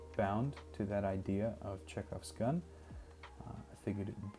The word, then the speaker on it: Chekhov: initially titled the poem i'm tired of people mispronouncing czecho because it's more of an h than a k but it also double as an idea of of the expectations that chekhov sets up according to